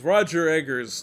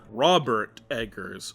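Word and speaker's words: Robert Eggers: more although that one's arguably not horror anyways Roger Edgars NOS veratu Roger Edgars Robert Edgars am I saying it right hold on I feel like I get his name wrong all the time Robert Edgars all right let me get that one correct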